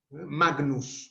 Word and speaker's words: Magnus: Yo la voy a pronunciar gn. Magnus, Magnus, Magnus.